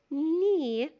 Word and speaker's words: knee: we have also K and بيتنطق يعني ال K silent like the word knee, knife, not, no.